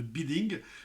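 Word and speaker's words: bidding: Ne vous trompez pas sur la prononciation de biding. Ça se dit bien biding et tout bid. B bid bid, verbe irrégulier en anglais.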